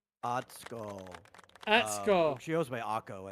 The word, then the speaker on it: Atsuko: Yes, it is Atuka. I said it wrong, I know. Atsuko.